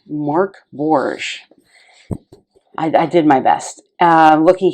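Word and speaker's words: Mörk Borg: purchased pretty easily and the indication here that mork borge is swedish for dark fort and is pronounced mark borge i did my best looking here at the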